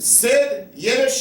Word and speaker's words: Sid Yiddish: you are Ghoulies and here we are with SID yesh am i pronouncing that right yes you are definitely all